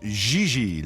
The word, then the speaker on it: JJ: mean jj gg jj on francais you pronounce g like j and j like g oh my gosh she may very well be jj in america but in france she is gigi so wait what about